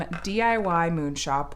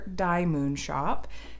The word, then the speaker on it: DIY Moon Shop: is Dark Lilith from DIY Moon Shop, or Die Moon Shop, depending on how you want to pronounce it.